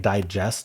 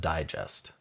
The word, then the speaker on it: digest: Um, if it's a noun, we we put the emphasis on the first syllable and if it's a verb, we put the emphasis on the second syllable.